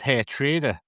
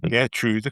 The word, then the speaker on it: Geertruida: Hey, he could attract some attention from Turkey, and if he went there, they could pronounce it Geertruida rather than Geertruida, couldn't they? Or Geertruida.